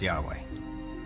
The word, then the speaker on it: Yahweh: According to one account, Abraham knew God by his intimate personal name, conventionally pronounced Yahweh. Passages with the name Yahweh, which in German is spelled with a J, scholars refer to as J.